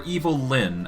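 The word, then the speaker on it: Evil-Lyn: We have Evil Lyn, or Evil Lyn, as she is properly pronounced.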